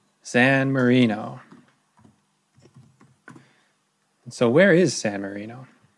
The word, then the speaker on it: San Marino: countries in the world is San Mourinho or San Marino I'm sorry I'm mispronouncing everything today San Marino so where is San